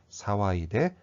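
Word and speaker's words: 騒いで: 반드시 타금이 있다는 것을 발음을 해 주셔야 됩니다. 사와이데, 이소이데.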